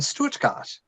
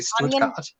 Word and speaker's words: Stuttgart: That's how you'd pronounce it in Germany, will be Stuttgart.